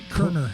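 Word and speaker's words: Koerner: Kerner. Kerner. No, Kerner. Kerner. The O is silent.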